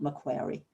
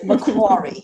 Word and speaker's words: Macquarie: it's macquarie because i never know how to pronounce it helen now i know it's macquarie and not macquarie so macquarie everybody so thank you very much indeed um